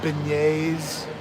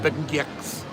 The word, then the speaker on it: beignet: like salt and straw I like beignet notice the pronunciation I don't call them B gcks but I tell you